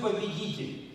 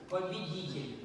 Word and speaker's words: победитель: Или вы победитель? Winner. How do you say, teach me, how do I say conqueror? Oh my goodness. Победитель. Победитель. Давайте хором, чтобы он слышал.